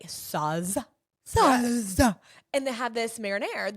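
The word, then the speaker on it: Sauz: It's spelled S-A-U-Z. Saz.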